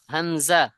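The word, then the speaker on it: همزة: কিভাবে চিনবো এবং এটাও গলার শেষ শুরু থেকে হবে কোথা থেকে সরি গলার শেষে থেকে হবে কোথা থেকে শেষ থেকে উচ্চারণ হাঁ হামজা হামজাহ হামজাহ হামজাহ হামজাহ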